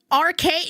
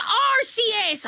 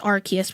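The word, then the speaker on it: Arceus: Arcade. No, it's Arus. I know it's Archus, but I'm going to say Arus.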